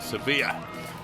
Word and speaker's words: Sevilla: Sevilla as the Spanish will pronounce it but 204 in Seville was a huge improvement for him.